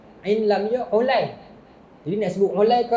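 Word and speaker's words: عُلَيّ: Mukhtalif wa mukhtalif ni bermaksud nama dia ejaan sama tetapi bunyi tak sama. Contoh Ain, Lam, Ya. Dia. Jadi bila tuan-tuan baca hadis Ain, Lam, Ya apa? Ali kan. Sebenarnya ada perawi lain nama Ulay.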